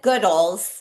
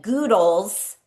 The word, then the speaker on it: Goodles: The host was calling it Goodles, rhyming with noodles. So please Before, let's clarify. We get that question all the time. Here's the official answer. We emphasize the good. Our team says goodles.